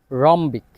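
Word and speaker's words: rhombic: এরপর আরেকটা যে রুলস আর এর পর যদি এইচ থাকে ওই ক্ষেত্রে এইচ এর উচ্চারণ হয় না আর এর উচ্চারণ হয় যেমন এটার উদাহরণ হচ্ছে রাইম রাইনো রম্বিক আর এর পর যদি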